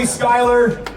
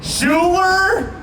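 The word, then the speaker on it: Schuyler: say it right uh Dan over here keeps going shoer shoer because of how it's spelled and I just want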